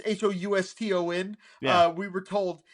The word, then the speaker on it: Houston: Which, by the way, when I traveled to New York, Soho is South Houston, and we were told it's Houston. Yeah. We were told it's not Houston, it's Houston.